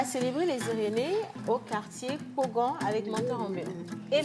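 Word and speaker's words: Kpogan: Pogan s'écrit K P O G A et N.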